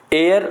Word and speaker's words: heir: का, वो बाप का उत्तराधिकारी होता है, तो एयर, अब देखिए इसका वॉवेल साउंड, उच्चारण इसका क्या है, स्वर है, इसलिए हम एन का यूज इसके पहले करेंगे।